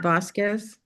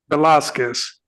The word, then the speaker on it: Velasquez: Is that the correct pronunciation? Velasquez, not Vasquez. Velasquez.